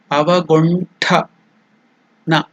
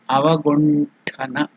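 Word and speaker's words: अवगुण्ठन: So if you tell ta, it is less force. Tha, Mahaprana, more energy, more breath is used. So it is Mahaprana. So it is Avagunthana Mudra.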